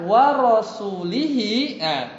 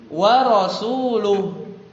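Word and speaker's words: وَرَسُولُهُ: Kalau dibaca wa rasulihi kasroh berarti artinya sesungguhnya Allah memusuhi orang musyrik dan rasulnya. Paham? Kalau bacanya wa rasulihi. Tapi harusnya bacanya gimana? Wa rasuluh. Ya, pakai dhammah.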